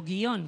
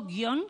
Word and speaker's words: guion: ahora en adelante guion tanto si la pronunciamos con iato guion como si la pronunciamos con diptongo guion que es como la pronuncian los mexicanos los salvadoreños los hondureños eh esas palabras no